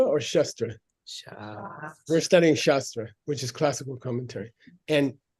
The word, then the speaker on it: shastra: we studying shastra or shastra sh we're studying shastra which is classical commentary and and now the